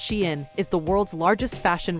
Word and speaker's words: Shein: Shein, pronounced Shein, is the world's largest fashion retailer.